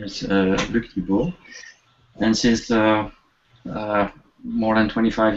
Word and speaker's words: Thibau: Here we are to Luke, and you pronounce his last name Thibau, and that's like Tim Thibau, our famous football in the U.S.